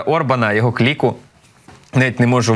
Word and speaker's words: Орбан: має на увазі саме Віктора органа органа Перепрошую Віктора Орбана його кліку навіть не